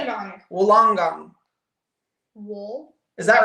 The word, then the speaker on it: Wollongong: Wool long gong is how you say it. Wollongong.